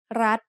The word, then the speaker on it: รัฐ: We pronounce รัฐ with a high tone because of the rule low class consonant with a dead ending and short vowel makes high tone.